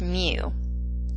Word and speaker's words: mu: The population arithmetic mean, pronounced mu, looks like a U with a little tail in front, is computed using all the individuals in a population.